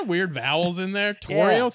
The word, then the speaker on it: Torio: Torio, three syllables.